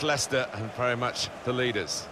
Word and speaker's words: Leicester: rest of the world try to learn how to pronounce their name lyse ester Lai Chester we got a lot of that didn't we but very much Leicester and very much the